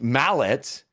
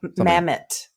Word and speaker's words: Mammet: And and that sequence is amazing where um Mallet the grandpa uh uh Krokus's uh uncle? Grandpa? Mammet. Mammet. So I said Mallet. Mammet. Yeah. Mammet.